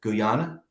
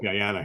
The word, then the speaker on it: Guyana: The day at Guana. Is that how you pronounce it? Guyana.